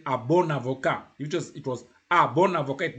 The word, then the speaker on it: bon avocat: When the word adjective, petit, is isolated, petit, you don't pronounce the T. But here you say petit ordinateur. You join. Petit ordinateur. Bon avocat.